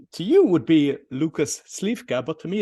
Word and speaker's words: Lukas: you can introduce so welcome to the show Lucas thank you perfect pronunciation you you must have had a very